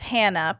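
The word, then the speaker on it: Chana: Hey, ladies, my name is Hannah, but it's spelled C-H-A, like C, Hannah, but it's pronounced Hannah.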